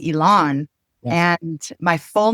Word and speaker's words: Elan: So, you asked while we were offline as well how to pronounce my name. My name is Elon and my full name